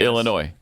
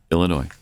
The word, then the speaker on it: Illinois: You You do not pronounce the Illinois. Yeah. Illinois.